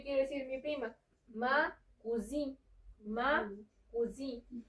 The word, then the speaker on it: cousine: No hay que hacer como que tan pronunciada la última E, porque si no entonces ya me estarías diciendo cocina, porque cuisine, esa también puede significar cocina, ¿ok?